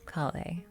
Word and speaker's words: Collei: So we'll just go with the in-game name and call her Collei.